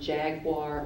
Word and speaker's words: jaguar: postm that is correct I'm going to give you both pronunciations of your word jaguar or Jaguar uh Jaguar j a